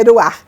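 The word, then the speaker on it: רוח: Ru é com R no começo, é que a pronúncia do R em hebraico é Ruach.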